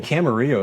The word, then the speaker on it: Camarillo: In Camarillo, it's spelled Camarillo. So a lot of people think it's Camarillo. Well, come on, that's Latino.